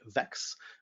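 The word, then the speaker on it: Vaex: worked very closely with the folks who make vex which is spelled v-a-e-x to to scale the the data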